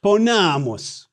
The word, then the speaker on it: ponamus: Hey, did you notice the shift in the stress accent from the antepenult, third to the last syllable, to the penult, the second to the last syllable?